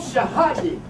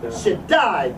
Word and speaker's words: Shaddai: El Shahadi. I think I'm pronouncing that word right. Shaddai.